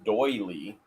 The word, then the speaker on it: doily: vowels more table linen tnb says it's pronounced doily it's a doily a doyle doily no